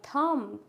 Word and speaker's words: thumb: क्या हो जाएगा साइलेंट लाइक थम तो थम में क्या है बी साइलेंट क्लिम कॉम क्रम लैम